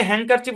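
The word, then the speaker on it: handkerchief: ব্যাখ্যা নাই এটাই ব্যাখ্যা এখানে হ্যাংকার চিফ উচ্চারণ হবে ডি টা সাইলেন্ট এন এবং কে যুক্ত সাউন্ড দিচ্ছে এটাই ব্যাখ্যা হ্যাংকার চিপ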